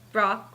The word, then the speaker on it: wrock: I get to talk about rock that's rock with the w we really need to think of a new way to pronounce that guys to make that